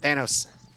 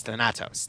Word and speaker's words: Thanatos: Prophet Thanos. Did I pronounce that right? No, it's Thanatos.